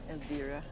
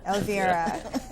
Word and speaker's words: Elvira: Is that Welcome how you pronounce back. it, Elvira? Elvira. Elvira.